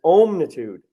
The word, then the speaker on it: omnitude: refer to it as omnitude meaning all that is and i like pronouncing it with that word ohm because that is the primal sound of the universe so people may think